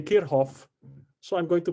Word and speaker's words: Kirchhoff: way um trivialento para say no um antalagan pronunciation on kirchoff uh i looked it up somewhere it's kerhoff no um it's just that i feel strange having to say kirhof so i'm going to pronounce it the way